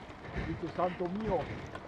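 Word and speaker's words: Santomio: This is San Tomio. Never heard of it, but anyway. Santo mio. Huh? Si pronuncia Santo mio.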